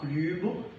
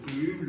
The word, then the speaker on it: club: So only the following French words are being pronounced at the end of the word. B, R, C, F, L. So these are the consonants pronounced at the end of the word. So we have club, le sac. Okay, there was a repetition. Le clef, le sel. So these are consonants pronounced at the end of a word.